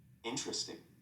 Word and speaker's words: interesting: is sometimes not pronounced average different separate comfortable interesting vegetables okay page pronunciation about silent uh violence and on pronouns 18.